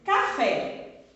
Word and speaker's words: café: Café. Café! Isso! Esse fé, ele é tônico, ele é forte. Então, é sílaba tônica. Eu pronuncio ele com maior intensidade.